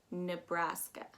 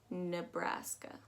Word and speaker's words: Nebraska: net too much but definitely pronounce it as bra and not bruh nebraska that just it's simply